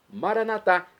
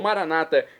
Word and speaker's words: maranatá: E agora do aramaico dialeto de Jesus, eu clamo maranatá, como dizemos nós católicos, ou maranata, como dizem nossos irmãos separados, os evangélicos ou protestantes. Não importa a pronúncia, o significado é o mesmo.